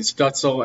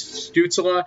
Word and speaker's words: Stützle: I know I've been saying Stutzel in my previous videos, but I believe the correct pronunciation is Stützle.